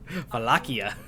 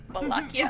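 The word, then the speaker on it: Vallaki: How do you say- Oh, there's 2 L's in Valakki, that's why. Valakki. I keep wanting to add the A at the end of that. Valakia. Valakki. Right, it sounds right.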